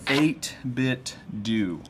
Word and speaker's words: 8BitDo: the company name is 8-bit do I got confirmation it's not dough like Nintendo it's a bit do like Nintendo because then tend to